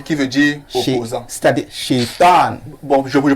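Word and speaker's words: شيطان: C'est-à-dire Shaitan. Bon, je vous le prononce.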